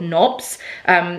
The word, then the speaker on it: Nobs: I've actually been really enjoying an app called Knobs, which is spelled N-O-B-S, and it was created by a really amazing woman on Instagram called Lucy Mountain.